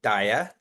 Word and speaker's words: DAIAA: Um first for those first timers uh we pronounce it DIA.